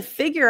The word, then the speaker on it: figure: The next one, to figure out. I love this because we use this a lot. Figure out. Figure. So here, the U sounds like an IU, like museum.